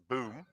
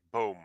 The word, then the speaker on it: Boom: a little town called boom so you don't pronounce it boom as many do boom yeah it's actually translate as tree and in Dutch you say boom like in a comb oh yep and uh